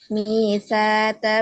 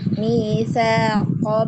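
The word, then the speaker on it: مِيثَاقَ: Wa idh akhadna misata bani Bu, bacanya kok. Ya, bukan misata. Kok ya. Wa idh akhadna misaqa bani Israila la ta'buduna illallah wa bil walidaini ihsana wa dzil qurbana wal Wadil yatama kurba.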